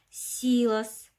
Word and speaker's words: силос: ожила ударение на а силос ударение на и арбуз ударение на у